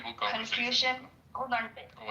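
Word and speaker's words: Confucius: Like or confusion if I'm pronouncing it right. the Chinese philosophy right that confucious that confusious thank you um so that wouldn't be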